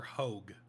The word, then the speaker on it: Hoag: I'm gonna call her Hoag. Oh, like a hoagie. Like, yeah, Hoag sounds about right.